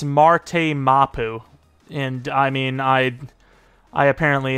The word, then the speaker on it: Marte Mapu: Instead of Marty Mapu, it's Marte Mapu.